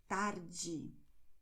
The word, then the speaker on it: tarde: that you have the E always and the E at the end of the word with the sound J, like when you have in English jeans. Okay, which is why you are going to say Diego, tarde, and even desculpe.